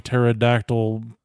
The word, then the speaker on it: pterodactyl: to be a flying pterodactyl dinosaur what yeah silent p it was is a